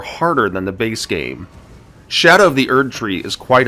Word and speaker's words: Scadu: To overcome this difficulty, Shadow of the Erdtree introduces a new mechanic in the Shadow Fragments. Listen, I know they're spelled like Scadu Fragments, but that's not how they're pronounced.